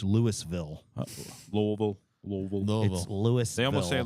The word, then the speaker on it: Louisville: we need to say that word properly it's Louisville lville lville Lille it's Louisville they almost say